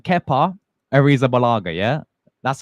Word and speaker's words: Arrizabalaga: All right, Kepa Arrizabalaga.